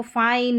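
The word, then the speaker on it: fine: अब यहाँ पर इसको फाइन, माइन, नाइन, डाइन, तो रूल पता है तो उसको फिन, मिन, निन या डिन इस तरीके से नहीं पढ़ेंगे।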